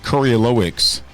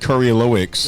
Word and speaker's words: Kurylowicz: Got a guest host on today, the man, the myth, the legend, otherwise known as Curly, but his last name is Kurylowicz, right? David Kurylowicz. Yes, sir.